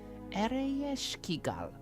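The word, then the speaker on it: Ereshkigal: The queen of the underworld is Eiskigal. And you would say her name like this, Eroskal.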